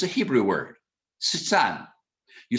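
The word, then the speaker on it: שטן: It's a Hebrew word, Satan. You spell it Samach, Tet, Nun, Satan.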